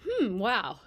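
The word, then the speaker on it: HMWAO: The acronym is hm wow.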